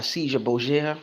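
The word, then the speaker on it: Cesare Borgia: That was the whole concept that was done by I want to say by Caesar Borgia. That's how you pronounce his name, and many others.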